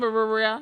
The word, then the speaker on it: birria: I don't know how to say it because it's hella R's, but anyway. Come on, Birria. It was so good. I know. It's like BIRRERIA. Like it's like hella like R's right back to back.